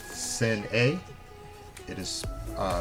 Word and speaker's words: Sin'e: Pup is called the pronunciation uh is called sin a it is uh spelled s i n apostrophe e pronounced Shen a um an English uh like I said an